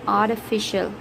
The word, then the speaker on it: artificial: An R is silent, artificial, not official, artificial.